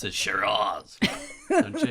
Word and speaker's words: Shiraz: Well, it's Australia, so you have to pronounce it Shiraz. Don't you? You have to do that kind of thing, Shiraz.